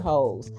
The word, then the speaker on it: Heaux: in the set is called Bored Hose, but it's spelled HEAUX or something like that.